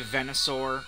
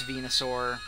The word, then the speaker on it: Venusaur: There were a lot of names that I just pronounced stupid wrong back in the day. I used to say Venusaur because that's what I heard somebody say it at some point. But it's Venusaur.